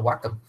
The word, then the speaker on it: Wacom: James, how do you pronounce this brand that makes this monitor? A Wacom.